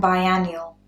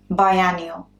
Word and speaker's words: biennial: Very similar, but they're not quite the same pronunciation. So listen again. Biannual and biennial. Biannual, biennial.